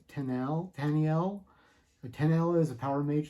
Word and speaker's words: Taniel: And then our third major character is Taniel. I pronounce it Tanel. Taniel. Tanel.